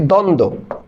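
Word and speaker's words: দ্বন্দ্ব: তোমার করা লাগবে না যেমন তোমাকে আমি যদি বলি দ্বন্দ এখন এই দ্বন্দর মধ্যে দ এর নিচে বফলার উচ্চারণ হবে না কেন কারণ আমরা জানি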